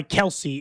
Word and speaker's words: Kelce: Okay, so somebody said Travis Kelce says everyone pronounces Kelsey incorrectly. Just we had that whole thing. Does Andy Reed actually say it, right? Then he said that he thinks it was originally Kelse. That's not what he went